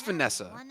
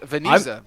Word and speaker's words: Vanessa: As that is a Okay, so I'm getting another correction and Sunny Day is actually wrong and it is Vanessa. Sunny says Venee- Venetia.